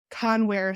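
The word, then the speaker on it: Kanwar: properly uh discover um The W and the V the V and W get interchanged in Punjabi so it's cover um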